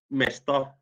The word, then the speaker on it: место: Mesta. Место, like place. Yeah, place. Mesta, по-русски, по-фински, место. It's the same. It's the same. There's only one letter difference because the O is pronounced in Russia A, and in Finnish we